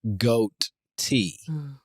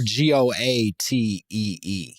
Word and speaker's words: goatee: I've always presumed goat tea. But I know that is not the spelling. The spelling is GOTEE. Are you serious? Or GOATEE. It's spelled goat-e. Yeah. Like goatee. Yeah, goatee. Interesting. But I think that was them. My argument would be they mushed them T's into a single T and let that ride.